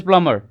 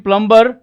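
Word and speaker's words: plumber: पढ़ा था ना पिछली क्लास में सो इ प्लमर एज यू कैन see here जो जो भी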